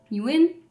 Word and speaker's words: Nguyen: I'm Nguyen. Yes, you win. That's how you say it.